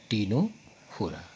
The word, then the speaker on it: टीनोफोरा: इसमें सी आपका साइलेंट है, टीनोफोरा।